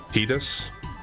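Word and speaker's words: Tidus: I know it's confirmed to be pronounced Titus because it has been said in other games after this.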